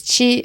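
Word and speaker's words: 七: 7 is Chi, flat tone.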